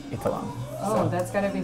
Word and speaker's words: Eitharong: I'm Eitharong, or Eitharong, depending on how you want to pronounce it. So growing up, it was always Eitharong, but really it's Eitharong.